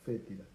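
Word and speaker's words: foetida: Entonces por eso se escribe foétida, pero se pronuncia fétida.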